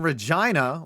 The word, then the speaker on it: Regina: MOSAIC Stadium in Regina, which rhymes with Dolores, is another beautiful modern stadium in Canada.